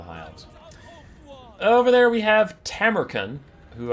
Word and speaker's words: Tamurkhan: over there we have tamaren who I was told I was saying it wrong when I was saying tacon and that while that's